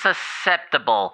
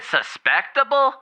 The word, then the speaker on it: susceptible: Except I think you mispronounced susceptible. Because it sounds like you said suspectable.